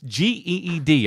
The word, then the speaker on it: Geed: That's G-E-E-D. I'm not mispronouncing that.